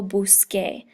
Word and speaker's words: busqué: If I want to say I searched, I would say yo busqué. And the reason that we change the C to a QU is so that it maintains the hard C sound, that K sound.